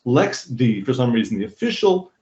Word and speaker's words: LXD: is pronounced lxc but lxd is actually pronounced Lex D for some reason the